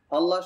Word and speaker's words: الله: মোটা উচ্চারণ হবে, কারণ আল্লাহ শব্দের পূর্বের হরফে যদি জবর পেশ থাকে তাহলে আল্লাহ শব্দের আওয়াজটা মোটা হয়, আর যদি জের থাকে তাহলে পাতলা উচ্চারণ হয়।